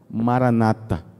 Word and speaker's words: Maranata: Existe uma palavra antiga hebraica que era marantá, mais ou menos isso. Essa palavra tomou forma, e no Novo Testamento essa palavra, que significava vem Senhor, no Novo Testamento ela é pronunciada com Maranata, ora vem Senhor Jesus.